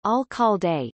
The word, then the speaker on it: Alcalde: The Alcalde, founded in 1913 and pronounced Alcalde, is the university's alumni magazine.